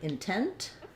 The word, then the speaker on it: intent: Um let's say for example, the word intent, I'm stressing on tent, but I still have the i sound here.